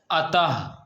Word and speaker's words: अतः: लगा दिए जाते हैं इसका उच्चारण हा की भात किया जाता है जैसे अतः क्या है आप देख रहे हैं य पर विद्यार्थियों अतः यानी अब इस तरह क्या लिखा हुआ है ये अत लिखा हुआ है अत अब इसमें आ की मात्रा लगा दिए तो क्या हो गया अतः यानी जब दो विसर्ग लगा दिए तो यह अतः हो गया यानी इसका उच्चारण में